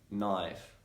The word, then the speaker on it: knife: like an f normally the letter k is going to be silent when it comes before letter n say for example in the words night knife knowledge no me need